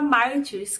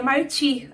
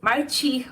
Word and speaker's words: Martyrs: dirigido por Pascal luzier até algum tempo atrás eu pronunciava Martins crente que eu tava abafando mas aí eu vi uma entrevista do diretor e descobri que se pronuncia martir assim mesmo ignorando s martir ou márti se enquadra no subgênero